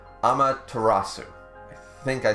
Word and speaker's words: Amaterasu: They believed it was, and I'll try again to pronounce this correctly, Amaterasu.